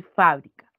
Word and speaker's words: fábrica: Entonces, cuando nosotros pronunciamos, chicos, estas palabras, inmediatamente podemos reconocer dónde recae la mayor fuerza de voz, en cuál de sus sílabas. Tenemos, por ejemplo, fabrica y fábrica.